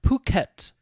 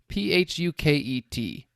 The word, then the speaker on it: Phuket: The town he died in is, I believe it is pronounced Phuket. Phuket, Thailand.